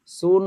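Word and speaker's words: soon: মুসাফির ভাই আপনি বলবেন এস ডবল ও এন এটার উচ্চারণ কি হবে সুন হবে আচ্ছা রিমা আপনি বলুন আমি জানিনা আপনি বয়সে আমার কত বড় নাম ধরে ডাকতেছি।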